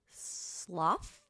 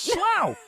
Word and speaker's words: Slough: Slough? You'd think so, wouldn't you? No, it's Slough.